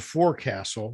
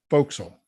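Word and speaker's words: forecastle: that down I'm sorry it's spelled for Castle but it's pronounced Folk Soul oh I haven't done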